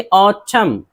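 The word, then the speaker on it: autumn: जैसे देखिए औचम, औचम एन है लेकिन एन को नहीं पढ़ना है।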